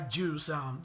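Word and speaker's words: J Hus: I want a little bit of this, a little bit of that, and trust me, that guy Juice, which his name is spelled Jhus, his rap, the bounce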